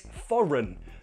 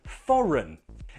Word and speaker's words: foreign: Nope, the G is silent, it's foreign, foreign. Again, we have a perfect example of the first syllable being stressed, so the second syllable is weak, has the schwa sound. Foreign, run, foreign.